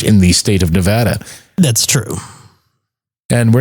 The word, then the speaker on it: Nevada: uh here in nevada how do you say nevada nevada nevada not nevada not nevada nevada that's too proper for this place grabber here in